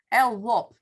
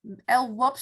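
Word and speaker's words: LWOP: is life without parole al-wop it's called by the American the Americans say El there are very many l-wops so they use the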